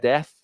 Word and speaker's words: Dieth: Yes, Dieth, pronounced Death.